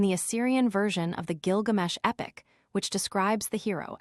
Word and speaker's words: Gilgamesh: equation of it with gilgamesh pinch's discovery pointed conclusively to the popular pronunciation of the hero's name as Gilgamesh and since alien Data anime Z 2 mentions a Babylonian personage Gilgamos.